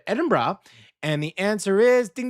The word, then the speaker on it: Edinburgh: The Scots pronounce it Edinburgh. And Or is I said it wrong. I said said it like brah.